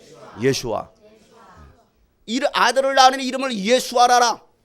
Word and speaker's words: 예슈아: 예수, 정확한 히브리어 발음을 하면 예슈아입니다. 예슈아. 해보세요. 예슈아. 예슈아.